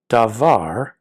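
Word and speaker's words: דָּבָר: And to say the word, now wait here, davar, the first letter has a dagesh lene, which is what makes this a hard D.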